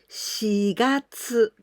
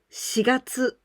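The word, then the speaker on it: 四月: Oh, you must be very careful because this number 4 we can pronounce し or 4. In many occasions, we usually say 4, but in this case of the months of the year, we must pronounce with し.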